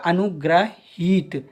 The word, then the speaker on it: अनुग्रहीत: ये क्या हो जाएगा अनुग्रहित ठीक है अब उच्चारण करके देखिए अनुग्रहीत तो हित जब ई बड़े लंबा जा रहा है तो ये बड़ी ई की मात्रा चढ़ेगी और ग्रह दोस्तों इस